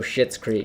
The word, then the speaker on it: Schitt's Creek: It's How did they get away with naming a show Schitt's Creek? Schitt's Creek. Because it's not spelled like shit. I know.